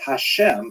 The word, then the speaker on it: Hashem: God and the word Hashem of course is pronounced with the letter H but there is no